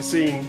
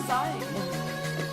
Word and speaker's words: zine: I thought it was Zine. Yeah, I did as well, but I guess you meant to pronounce it like it's the end of magazine.